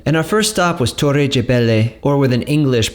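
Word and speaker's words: Torre de Belém: From there was a short drive back to Lisbon, and our first stop was Torre Gebele, or with an English pronunciation, Belém Tower.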